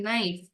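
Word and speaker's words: knife: என் ஐ எப் இ நைஃப் எப்படி உச்சரிக்கணும் நைஃப் அந்த இடத்துல கே வந்து சைலென்ட் சைலென்ட்னா என்ன அத நம்ம உச்சரிக்க மாட்டோம் அந்த எழுத்துக்கான உச்சரிப்பு இருக்காது அடுத்த எழுத்துக்கான உச்சரிப்பு தான் நாம் உபயோகிப்போம் நைஃப் நைஃப்னு படிக்க மாட்டோம் நைஃப் கே இஸ் எ சைலெண்ட் letter it இஸ் எ நாய்ச்சி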